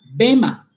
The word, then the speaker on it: bema: La palabra la palabra griega para tribunal es la palabra bema. A ver, escuche bien. Bema, ¿cómo se escribe bema?